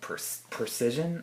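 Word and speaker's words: precession: of this topic called precision I believe it's pronounced and it dictates that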